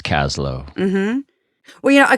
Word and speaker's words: Kaslo: First Nations around here and he says they pronounced it cost cost low okay so those of us who live here it's Kaslow mm-hmm well you know a colleague of mine